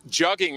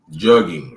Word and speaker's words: jugging: Jugging rhymes with mugging.